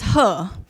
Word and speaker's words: He: hear me okay uh actually my name is her it's spelled as h e so I saw some